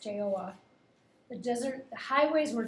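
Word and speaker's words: Jael: in the days of jl it's actually pronounced joa the desert the highways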